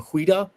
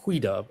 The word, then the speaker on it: Xweda: point out that that's a transliteration of the name Huida. So there was a kingdom there named Huida, and it's spelled XWEDA, and Judah, JUDA, is just the way one country translated that word.